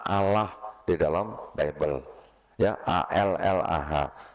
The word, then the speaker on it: Allah: Ya, A L L A H. Saya bacanya di Bible Allah, karena enggak ada tasjidnya, Bu. Jadi saya baca Allah gitu. Bukan Allah gitu.